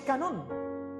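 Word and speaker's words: κανών: De hecho en griego es canón, con acento en la última O. Canón, acento en la O.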